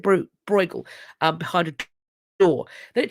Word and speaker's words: Bruegel: I think I pronounce it Bruegel, behind a door.